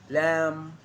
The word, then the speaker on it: lamb: all the silent point it follows the letter m climb come lamb thumb thumb so practice them with me i am not pronouncing the b i am just pronouncing the m consonant sound prime come lamb come